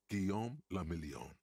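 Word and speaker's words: Guillaume Le Million: meant only one thing guillaume lamillion right if it doesn't rhyme you're not pronouncing it right ah thank you drama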